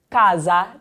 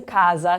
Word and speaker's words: casa: So we saw when we looked at the word casa that the S in casa sounded like a Z, okay?